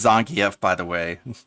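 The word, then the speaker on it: Zangief: with Z why am I bothering why it's pronounced Zang F by the way Zang F but sure Phil you can pronounce his name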